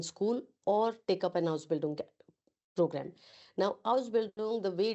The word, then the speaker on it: Ausbildung: Ausbildung is basically, first of all, it is pronounced as Ausbildung.